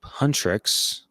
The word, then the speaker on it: Huntrix: In the present, the K-pop girl group Huntrix, that is how you say it, right, Gil?